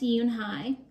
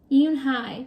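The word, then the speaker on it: Unhei: "Yes, it's pronounced Yoon-hai, and it means grace," Mr. Kim added. "Yoon-hai," Joey said slowly, and this time perfectly.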